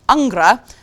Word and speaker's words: Angra: Brazilian power metal band Angra who actually is pronounced Angra have a new album